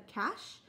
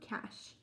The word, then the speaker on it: cache: tree, it's called a cache. So same thing with this chamber, it's a food cache. And it's C-A-C-H-E, but it's pronounced cache.